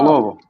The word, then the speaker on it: Louisville: Oh, Louisville. Louisville. See. Oh boy. You know he's from Oh, Kentucky because he Louisville. says it right, right? You know he's from Kentucky. He says it right. Only 2 syllables.